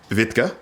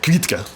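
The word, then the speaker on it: Квітка: It's something like Vitka, but I've been schooled by some Ukrainians that it's actually something more like Kvitka that I can't say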